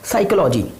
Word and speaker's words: psychology: साइकोलॉजी, साइकोलॉजी की spelling आप देखेंगे तो वो पी से शुरू होगी, PSYCHOLOGY, साइकोलॉजी, साइकोलॉजिस्ट भी हो सकता है। तो इस तरह से हमने देखा कि ये पी साइलेंट है।